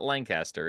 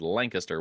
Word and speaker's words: Lancaster: the pronunciation of Lancaster it is not Lancaster it is Lancaster when you're in Pennsylvania so the the the Lancaster